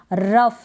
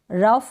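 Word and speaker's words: rough: जैसे कि यहाँ पर है कफ है, खांसी, रफ है, लाफ है। अब GH का अपना कोई प्रोनाउंसिएशन नहीं है, GH को हम फ पढ़ रहे हैं।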